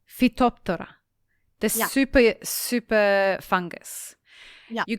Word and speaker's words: Phytophthora: Phytophthora. Phytophthora.